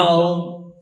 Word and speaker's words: ओम: नाक से तात्पर्य ये है दांत, तालू, जीभ, होठ, कंठ, ये कोई भी अवयव इस अनुस्वार के म के उच्चारण में काम नहीं आएंगे। सिर्फ एक नाक से एक ध्वनि निकलेगी, वो ओम होगी।